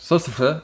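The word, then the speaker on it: Sólstafir: Alors en vrai ça se prononce Sol Staffir et ça se prononce Bled Bled.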